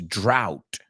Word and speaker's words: drought: the sixth one is drought pronounce this one with me because this is a weird one it's d-r-o-u-g-h-t which is weird because bought is a drought but a nice drought